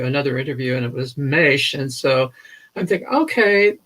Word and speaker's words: Maisch: saw a color mesh of course i was pronouncing it wrong and thought it as mash and i heard an interview another interview and it was mesh and so i'm thinking